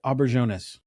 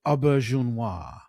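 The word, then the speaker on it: Auberjonois: I would have said Renee Aubberjonas.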